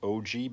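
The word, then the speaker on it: ogee: I've already cut a practice one on here, and this is called an OG bit, spelled like O-G-E-E.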